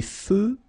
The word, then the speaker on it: feux: Des feux de circulation. So here, final X, not pronounced.